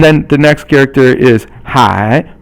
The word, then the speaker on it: 海: And then the next character is 海, or it's third tone, and it means the ocean. For example, 大海, da is fourth tone, and 海 is third tone, and so that means the big sea, which means the ocean.